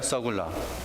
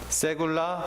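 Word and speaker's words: סגולה: 서굴라. 세굴라 혹은 서굴라, 발음이 그렇습니다.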